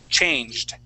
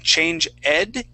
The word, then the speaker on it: changed: another Ed ending uh this Ed will sound like a d changed change it change okay all right so instead of saying change Ed in pronouncing that e we want to say changed changed changed change it okay